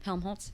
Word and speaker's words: Helmholtz: move on to helmholtz how do you say his name helmholtz yes helmholtz how it's spelled i'm just saying watson